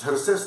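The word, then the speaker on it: Xerxes: नाव दिल्यानंतर लक्षात येईल हे इंग्लिश मध्ये झर्सेस लिहितात एक्स पासून स्पेलिंग चालू करतात झर्सेस नावाचा राजा होता अतिशय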